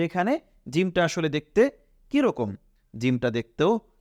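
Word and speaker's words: ج: আমাদের জন্য আরেকটি কোন অক্ষর রয়েছে সেটা হলো জিম নিশ্চয়ই জিমেরটাও আমাদের মনে আছে হা এর মতোই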